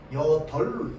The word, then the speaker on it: 여덟: 리얼 비어 여덜 여덟 중에 여덜로 발음하는게 맞죠?